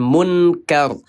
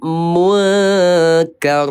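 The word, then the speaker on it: مُنْكَر: Nun sukun ketemu kaf, kodenya 2 IKSA, dibacanya samar, hukumnya ikhfa. Jadi bacanya bukan munkar, tapi munkar.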